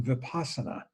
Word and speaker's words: vipassana: You may be familiar with the term vipassana. Vipassana is the Pali word, and in this tradition we use the Sanskrit, which is very close. It's vipashyana, means they're identical, they're just pronounced slightly differently.